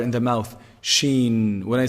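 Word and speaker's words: ش: So the sheen is pronounced from the middle of the tongue, the middle section of the tongue, and the roof of the mouth.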